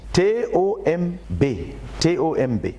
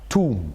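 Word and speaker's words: tomb: On avait l'habitude de prononcer ça comme ça. Tom. Mais le jour-là, Frère Zach a prononcé ça, Toum. J'étais un peu frappé. J'ai dit, mais le mot là c'est Tom. Bon, je faisais les langues à l'université et ma penchée était vers la linguistique. Donc j'étais très particulier avec les mots, les prononciations, ainsi de suite. J'ai dit, au lieu de Tom, il dit Toum.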